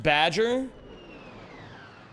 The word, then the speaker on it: Baja: It's pronounced Badger. Wait, you guys call it Badger Blast over there?